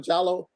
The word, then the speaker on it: Diallo: But and the reason I'm saying that, brother Diallo, you pronounce it instead of Jallo, or brother Diallo, is because when you